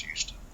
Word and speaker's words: Huston: Instead of spelling my last name like the city, like I spell it Huston, more like Huston rather than Houston, even though it is pronounced Houston.